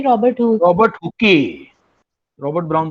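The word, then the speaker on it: Hooke: Robert, actually इसका pronunciation तो हुक है, बट मैं हुकी बोलता जान लीजिए ताकि बच्चों को याद हो जाए।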